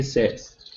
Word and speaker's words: says: go okay so State Patrol he says he says State Patrol he says good all right nice